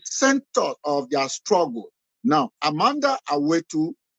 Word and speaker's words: Amandla: Now, Amanda is spelled as Amandla.